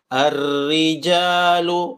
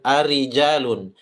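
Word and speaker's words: الرِّجَالُ: ya Perhatikan cara membacanya arriijalu ro tasdid arri bukan arijalun arrijalu qwa qo bukan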